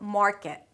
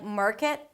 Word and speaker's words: market: We begin with an 'mm' sound and then the 'ar' as in 'car'. Technically it's the 'father' vowel, but a bit more rounded because it has the R right after - "maar" "maar". Notice that you're not bringing the tip of the tongue high up too soon so it sounds like 'merkit'.